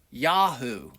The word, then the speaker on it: Yahu: And we can look at that name and see that the first three letters are pronounced Yahoo.